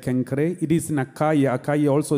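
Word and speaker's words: Cenchreae: the concrete is called kankari they announced it's pronounced like kankare it is nakaya akai also is today's greece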